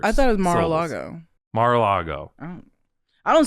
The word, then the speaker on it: Mar-a-Lago: So I said, Mar-la-go. And then they play the little ding ding ding. Do you say Mar-a-Lago? I always thought Mar-a-Lago, like 4 syllables. I thought it was Mar-a-Lago.